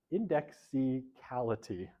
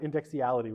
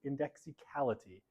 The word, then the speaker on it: indexicality: never pronounce this word, indexicality. Not indexiality, which is what I usually say, indexicality, which is basically analyzing,